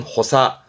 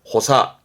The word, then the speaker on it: 補佐: 다음, 그 앞에 인변이 붙으면 사람이 왼쪽에, 즉 옆에 서서 도와주는 도울 좌자, 대표적으로는 보좌, 발음은 호사, 호사.